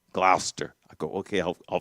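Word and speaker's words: Gloucester: It is not Glchester. It's Glouester. Glouster.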